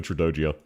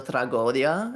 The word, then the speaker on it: Tragodia: I think it's pronounced Tragodia, I think. Wait, actually, yeah, let me check, because I always forget which way it's written. Yeah, it's a Tragodia, definitely. Yes, it is. It's Tragodia. I always forget if it's